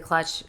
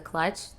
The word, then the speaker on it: Klutch: on instagram at the clutch the clutch is not spelled like with a c it's spelled with a k so it's t-h-e-k-l-u-t-c-h uh